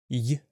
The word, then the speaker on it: Й: Y like in yes.